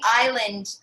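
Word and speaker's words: Islay: gonna get more difficult but what is the island uh within scotland that is known for that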